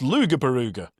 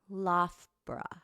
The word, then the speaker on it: Loughborough: It's Lugabaruga. It's not. It's not Lugabaruga, no. The O-U-G-H is pronounced as uff, like tough. Loughborough.